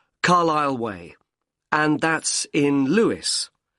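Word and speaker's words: Carlisle: and your address 45 carile way could you spell carile for me sorry it's c a r l i s l e you don't pronounce the S Carlile way and that's in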